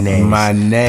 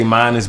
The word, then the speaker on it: Mynez: Mynez. People like to say Mynez, but it's really not. It's Mynez. Mynez.